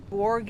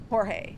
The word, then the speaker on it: Jorge: Um I pronounced his name wrong for the longest time until someone's like oh it's Jorge and I'm like how is there a H in there?